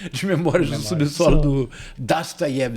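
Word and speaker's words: Dostoiévski: memória de subsolo do dasayev assim que se pronuncia em Russo não é Ah então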